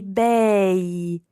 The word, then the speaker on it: bei: So we can't say belli bambini, but we simply say bei bambini. Okay. B-E-I, bei. I bei bambini.